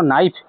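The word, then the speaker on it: knife: कौन करेबे text book रो जदी गोटे पिला प्रोनाउंसिएशन शिखिया चाहूँ सी धर कौन कहूँ धर नाइफ KNIF नाइफ कहूँ नाइफ करूँ ताले तुम जब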